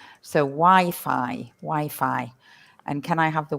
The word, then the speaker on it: Wi-Fi: notice the pronunciation of Wi-Fi, and it's not Wi-Fi, because a lot of people from other languages say Wi-Fi, but it's not Wi-Fi. In English, we say Wi-Fi, and it stands for wide fidelity, doesn't it?